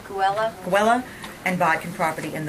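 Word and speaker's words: Geula: All right, so it's the Bodkin property, is it pronounced Gula, Loretta? G-E-U-L-A? Guella.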